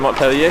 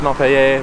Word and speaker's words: Montpellier: You pronounce this Montpellier, but not the one in Vermont. I struggled because I'm like, it's a French name, so I was trying to say it like in a French way, but no, it's Montpelier. I struggled with the Vermont pronunciation for Montpelier.